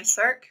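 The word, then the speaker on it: SSERC: Otherwise, you can consult CERC. So CERC is spelled S-S-E-R-C, and it's an abbreviation.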